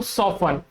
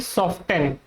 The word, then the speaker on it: soften: ये जो सॉफ्टन है ये इनकरेक्ट प्रोनाउंसिएशन है। इट is incorrect. तो इसीलिए आपको क्या बोलना है? इसको सॉफन। जैसे कि this cream will सॉफन your skin. सॉफन ना कि सॉफ्टन।